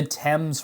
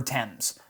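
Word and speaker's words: Thames: So, this is the Tempame's River right here. It's spelled Fames. It's not pronounced Fames. That's it's it's named after the river in London, England. The the river Tempames.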